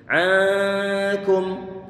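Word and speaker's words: عنكم: Kita perhatikan gerakan bibir saya. Ankum. Kunya dia dimonyongkan. Coba ikutin sekarang. Ankum. Fokuskan. Kafnya dia didommahkan. Pengucapannya bibir perlu untuk dimonyongkan. Kemudian sampai pada huruf mem. Mem dia dalam kondisi sukun sehingga bibir sudah dalam keadaan normal.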